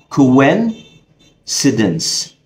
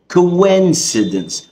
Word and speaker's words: coincidence: كوينسيدنس، بلاش بقى تتخدع وتقول كوين عشان الجزء اللي انا فيها شبه الكوين اللي هو العملة، لا هي بتتنطق كوان معناها الصدفة.